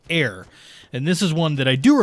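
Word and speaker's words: Aer: And it's, when I said it's Air, it's spelled A-E-R.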